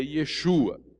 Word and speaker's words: Yeshua: hoje falando de que o nome dele é Yeshua e sem dúvida era assim que se pronunciava o nome porque em aramaico eem hebraico que era a língua falada naquela época era dessa da forma que era grafado e pronunciado só que a preservação